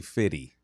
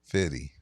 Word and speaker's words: 50: It is technically Fitty. Fitty. Fitty like rhymes with Diddy.